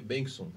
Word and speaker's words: Benson: Meu sobrenome se pronuncia Benson.